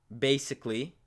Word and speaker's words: basically: And there's one situation where the letter A will not be pronounced. And it seems to be when we have the letters A-L-L-Y, Ali. And when that first letter is a C, such as in this case right here, basically, classically, musically, anything that ends